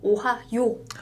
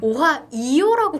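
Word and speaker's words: おはよう: 발음하실 때 약간 오하 이가 들어가면 안 되고 오하요 오하요. 이게 한국 분들이 많이 틀리시더라고요. 네네네. 그래서 우리가 이제 곤니치와도 많이 알고 오하요도 많이 알고 있는데 오하이요라고 기억하시는 분이 되게 많더라고요.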